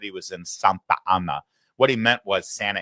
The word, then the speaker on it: Santa Ana: Uh and it's Santa Anna, not Santa Anna.